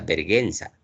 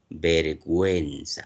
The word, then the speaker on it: vergüenza: La diéresis son los dos puntitos que permite recuperar el sonido de esta vocal U. Por eso nadie pronuncia verguenza, si no decimos vergüenza. Aquí sí está sonando la u y está sonando la e.